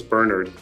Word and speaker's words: Bernard: it take a listen I used to tell Americans that my name wasn't Bernard it was Bernard and I would correct